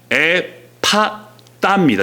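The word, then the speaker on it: Ἐφφαθά: 하늘 우러러 탄식하시며 그에게 이르시되 에바다 하시니 이는 열리라는 뜻이라. 그에게가 열리고 혀가 맺힌 것이 곧 풀려 말이 분명하여 졌더라. 아멘. 저기 에바다가 나오죠. 에바다. 에바다가 헬라어로 에파따입니다. 정확히 에파따라는 발음인데 열리라가 아니라 더 큰 의미입니다.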